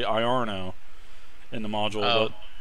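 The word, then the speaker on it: Iarno: are no is well it's instead of Lorna we actually I are no in the module out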